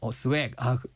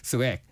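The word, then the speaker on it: swag: 오, 스웩. 네, 스웩. 맞아요. 그렇게 발음해야 되는 거죠. 네, 스웩.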